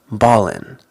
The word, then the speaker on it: ballin': In slang, we often don't pronounce the G, especially words that end in ing. It more sounds like in, ballin', stylin'. We'll see more as we go.